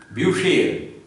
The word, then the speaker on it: Bücher: Bu, CH will give sh sound as per the rule, and A. Altogether, if you combine all the syllables together, it will come up like Bücher.